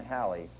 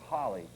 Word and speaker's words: Halley: Haley's Holl's it's pronounced some people with the H A L L E Y spelling in England pronounce it Holly others pronounce it Halley I'm going to call it Haley's comments just to spice